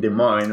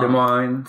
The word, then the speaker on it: Des Moines: I will live in Des Moines right now. Des Moines, Iowa. The monks. And the monks. So Des Moines which we can say des moines. It's the actual like French pronunciation.